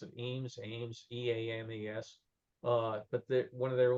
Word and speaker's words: Eames: This was all done by the, I always will mispronounce it, Eames, E-A-M-E-S.